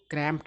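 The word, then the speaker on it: cramped: Comfortable मतलब आरामदायक आरामदेह क्रैंप इसको क्रैंप पढ़ा जाता है। ट जैसा उच्चारण होता है। बहुत सारे ऐसे वर्ड होते हैं जिसमें ई डी या डी लगा हुआ रहता है तो उसका उच्चारण ट जैसा भी होता है।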